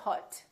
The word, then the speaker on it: hot: So, for example, the word hot, h o t we don't say hot, we say hot. It's pronounced exactly as the a in the words father or army or watch.